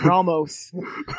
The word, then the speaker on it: Ramos: I thought it was Anus, but it was Ramos.